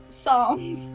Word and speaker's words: psalms: it's just song like the p is silent psalms and prayers those you